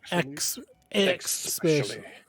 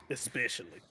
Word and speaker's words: especially: well especially especially thanks don't say x specially especially i i can't even